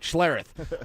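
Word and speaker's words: Schlereth: And I'll even pronounce his name right, Schlareth.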